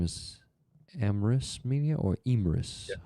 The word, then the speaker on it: Emris: His name is Emrys Media or Imris. Yeah. How do you pronounce it? Emrys, EMRIS Media. Emrys.